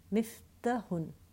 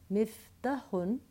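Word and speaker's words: مِفْتَاحٌ: to make sure that we pronounce the long vowels. I should not be saying miftahun. Miftahun would just be a ta with a fatha and then a ha after that. Miftahun. No, I see an alif after the ta. That tells me I have to pronounce the fatha longer, 2 times.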